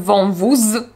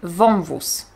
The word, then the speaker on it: wąwóz: Nie powiem wąwóz, powiem wąwóz. Nie powiem następstw, powiem następstw.